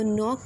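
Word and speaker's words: knock: नॉक एट the door, तो नॉक में जो है बेटा नॉक साउंड आ रहा है, नॉक, ठीक है। के का साउंड नहीं ना आ रहा स्टार्ट पे, तो के इज़ अ साइलेंट लेटर, इसे हम सर्कल करेंगे।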